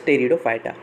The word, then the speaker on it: Pteridophyta: So this P is silent, so read it as Pteridophyta.